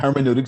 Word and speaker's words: hermeneutics: very interesting, because I know a little bit about hermeneutics. Is that the right word? Hermeneutics.